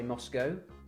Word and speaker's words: Moscow: the capital moscow moscow see americans say moscow moscow we say moscow well you'd say cow c-o-w cow why won't be in